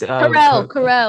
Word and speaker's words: Carell: It's, Carell.